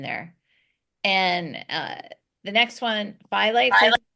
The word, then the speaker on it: phthalates: And the next one, phthalates, is how you say it.